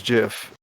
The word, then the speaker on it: GIF: said jiff yeah well the creator said it was jiff everyone else says oh